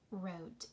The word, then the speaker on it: wrote: When we look at the letter pair WR, which letter is silent in WR? Which letter do you not hear in the words right, wrote, and wrong? Yes, it is the W, right? We do not hear that W.